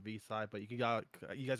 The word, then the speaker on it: Vixay: Oh, by the way, my name is Vside. It's pronounced Vside, but you got you guys just call me for nicknames to keep it simple.